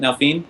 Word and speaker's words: Nalfine: Also, Nalfine, is that how you say it? Nalfine, Martin? Yeah.